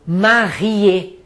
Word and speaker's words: marié: Eu só pronuncio o E final quando ele for acentuado. Por exemplo, casado, marié.